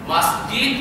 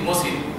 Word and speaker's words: মসজিদ: পাওয়ার উপযুক্ত শুধু আল্লাহ মাসজিদ মানে হচ্ছে সেজদার হ্যাঁ এই যে মাসজিদ বলি না আমরা এখানে একটা ভুল করি সবাই বলি মসজিদ মসজিদ মসজিদ না আগে মাছ তারপরে জিদ মাছ খাই না মাছ